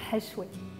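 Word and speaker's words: Hashwè: du rose bel ahmé, que l'on peut prononcer également hachoué.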